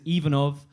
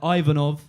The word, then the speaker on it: Ivanov: You know, in Finland the pronunciation is Ivanov. Here people tend to pronounce it a bit more like Ivanov.